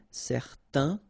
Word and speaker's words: certain: Okay, so it's nasal in your nose, un. Okay, if you add this at the end, then it will change the thing, and then you will pronounce it n. Okay, so the masculine form, certain, the feminine form, certaine. Alright, so let's see them one more time.